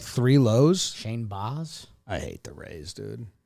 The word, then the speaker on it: Baz: is weird yeah and it's spelled baz but pronounced boss so you'd need a